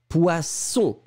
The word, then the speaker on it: poisson: Voyelle, voyelle, SS, un S très très fort. Se, baisse, poisson.